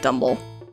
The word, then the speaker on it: Dumble: It's actually— it's most likely supposed to be like Dumbbell, but everybody calls it Dumble.